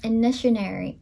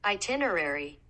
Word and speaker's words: itinerary: For the longest time, I thought this is initiary, but this is spelled itinerary. I feel like I've never heard that word. Itinerary.